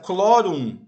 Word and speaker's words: chlorum: E no latim, nesse caso, o H ele não tem som. Né? A pronúncia chlorum é como se viesse o C depois o L.